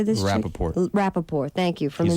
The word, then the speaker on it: Rappaport: Rappaport, thank you, from He's a- inside his car.